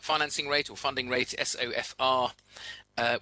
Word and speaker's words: SOFR: rate or funding rate sofr uh which when you pronounce it sounds like sofa and Sonia Sterling overnight